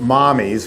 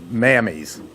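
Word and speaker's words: Mamis: She calls it Mommy's, which is Italian for M-A-M-I-S. It sounds like it's Mammy's, but we can't use Mammy's in the South or anywhere else.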